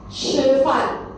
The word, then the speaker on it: 吃: 吃饭, 吃鸡饭. Okay, so if you cannot pronounce, you can use this word called peach. Okay, or church. 吃.